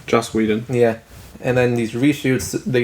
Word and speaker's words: Joss Whedon: Is it Joss Whedon? Joss Whedon.